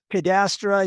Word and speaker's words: cadastre: And I guess that leads us very uh very well into the whole uh cadast. Is that the way you pronounce it? Cadastra.